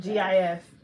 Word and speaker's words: GIF: G-I-F. Like jiff? Jiff. Like when people post a jiff on a page? Wait, j. It's gif. Gif.